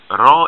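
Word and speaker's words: ر: and final form okay raw is like the sound of uh like in spanish it's not like a english ir or a french ah it's like a rolled r like that okay and the last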